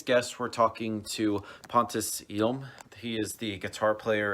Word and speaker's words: Hjelm: The H is actually silent, so it's Hjelm. Hjelm, anyway, Pontus Hjelm from Dead by April.